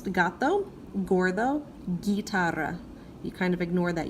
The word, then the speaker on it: guitarra: the letter H would so these words are pronounced - got though Gore though guitarra you kind of ignore that you there it's a placeholder guitarra whereas these are hey Mela Henry ow apparently